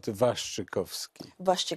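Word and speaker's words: Waszczykowski: welcome let me correct my name my name is vitold vastrykovsky kowski uh i apologize i'm coming from i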